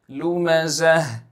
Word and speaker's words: لُمَزَة: Humazatil lumazah, lumazah. In the word lumazah, you will see that there is a ta over there, a ta mudawwara, a circular ta.